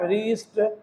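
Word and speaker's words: wrist: आर डब्ल्यू के बाद आर राइट wrong rap रीस्ट है ना रेक रीद ये आप देख रहे हैं।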